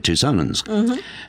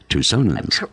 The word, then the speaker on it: Tucsonans: And then back to America where we're Tucsonans. Tucsonans. Correctly pronounced.